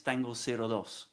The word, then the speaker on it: Tango 02: Well, in English, yes, but we pronounce it in Spanish, man. It's Tango 02.